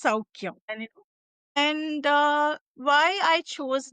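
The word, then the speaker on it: Soukhya: So, that's why it's Souky.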